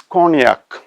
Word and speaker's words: cognac: And now the next word is cognac. The spelling is COGNAC. COGNAC. The tricky area is GNA, which we pronounce as nya.